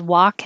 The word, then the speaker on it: walk: 25 can be spelled walk as in walking and walk as in the bowl. Sounds exactly the same. Wa. It's the ah again.